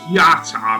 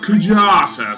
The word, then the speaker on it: Kujata: summon material the kajata material yes i originally pronounced it yata because of how it was translated in the ps1 version but apparently this is now pronounced kujata so um indeed that is um how i